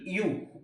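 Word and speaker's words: ewe: एक तो एक ई डब्ल्यू ई यू और आगे देखो अब इ के अनुसार तो हमें क्या लगाना चाहिए?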